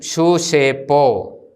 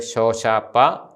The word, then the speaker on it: ഷൂഷേപ്പോ: ഇനിയും ഷൂഷേപ്പോ. നമ്മൾ ഈസ്റ്റ് സിറിയക്കിലാണ് ഇത് ഉച്ചരിച്ച് ശീലിച്ചിരിക്കുന്നത്, ഷോഷാപ്പ. പക്ഷേ നമ്മുടേത് ഷൂഷേപ്പോ എന്നാണ് ശരിയായ വെസ്റ്റ് സിറിയ ഉച്ചാരണം.